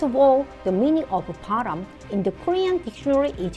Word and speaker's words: 바람: However, in Korean, air movement and secret relationship with other person are pronounced the same as param.